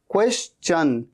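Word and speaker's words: question: only ओ ओ only इसे कैसे कहते हैं यह बड़ा इंटरेस्टिंग है क्वेश्चन चन ये च जरूर बोलना है क्वेश्चन क्वेश्चन अच्छा मैंने अभी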